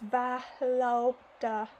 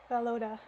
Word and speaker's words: Volodya: Oh, they're telling me here in the footnotes how to pronounce his name. It's Valoda. Valoda.